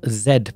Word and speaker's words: Z: is just grab our zed position i'm saying zed because i'm from england originally uh those of you who speak more american english would pronounce that as a z but on the z